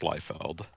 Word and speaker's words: Liefeld: according to the pronunciation guide, it is in fact Liefeld.